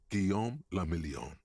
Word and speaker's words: Guillaume le Million: Guillaume la Million. If it doesn't rhyme, you're not pronouncing it right.